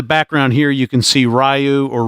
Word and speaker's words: Ryu: Look in the background here, you can see Ryu, or Ryu, depending on how accurate you want to be with the pronunciation, but anyway, Ryu from Street Fighter, walking